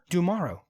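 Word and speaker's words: D'Amaro: Dumaro. Josh Dumaro. It rhymes with tomorrow.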